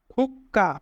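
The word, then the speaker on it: 국가: যদি বাচ্চিম হিসাবে কোয়া থাকে এবং তারপরে গিয়ক দ্বিগুত বিয়োগ থাকে তাহলে তাহলে গিয়কের উচ্চারণ ডবল হয়, অর্থাৎ সাংগিয়ক হয়। তাই উচ্চারণ হবে এখানে সাংগিয়ক ক আ কা খুক্কা, খুক্কা মানে দেশ।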